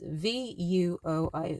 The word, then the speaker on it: vuoi: It actually rhymes with puoi. And it's V-U-O-I. Vuoi.